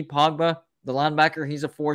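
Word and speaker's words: Kpogba: spell it that's k-p-o-g-b-a i think it's pogba lee pogba the linebacker he's a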